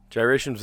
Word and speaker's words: gyration: Gyration's with a G, isn't it?